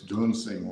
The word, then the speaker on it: Dunsing: Road, and I taught also at Vineyard Elementary on Dunson Road, which is not really Dunson Road; it's Dunsing Road.